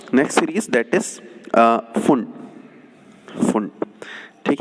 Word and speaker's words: Pfund: Now come to next series, that is फुंड, फुंड। ठीक है ना, PFUND, P साइलेंट, फुंड सीरीज।